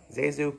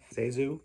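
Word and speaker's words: ZaSu: to pronounce her name zazu is a mixture of her two relatives aunts i think elisa eliza and susan somehow that became seizu pitts anyway lots of silent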